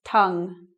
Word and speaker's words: tongue: Usually like Tungu or something. Sounds like a game that you can play, but Tungu is not right. It's tongue.